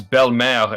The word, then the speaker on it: Belle-Mère: Because her name is basically Bellemere. In French, it's Belle-Mère, and that just means stepmother, right? Every way I've heard it said was always Bellemere.